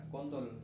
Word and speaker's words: kuntul: pakainya tulisan pakai U, tapi bacanya kontul. Kontul.